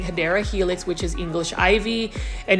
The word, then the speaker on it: Hedera helix: Now you can see they did have a couple of Hydra Helix. Now, for those that don't know why I say Hydra Helix, that's just a mispronounced way of saying Hedera Helix, which is English ivy.